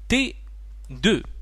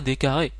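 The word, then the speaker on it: d²: raison qu'on qu'on qu'on qu'on prononce D 2 on ne prononce pas d carré D2 c'est pour dire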